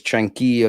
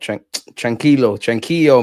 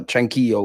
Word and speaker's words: tranquillo: It's tranquillo, not tranquillo, man. Say, brother, tranquillo. We were saying what I want on this platform.